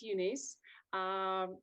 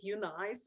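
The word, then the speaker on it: EUNICE: Actually, we pronounce it UNICE, or you can pronounce it UNICE, or however you want to, but this stands for European University for Customized Education.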